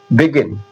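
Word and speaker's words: begin: आई आ रहा है, लेकिन जब भी इसे जा ना पढ़ के गा पढ़ा जा रहा है। बिगिन, बिगिन, बिगिन।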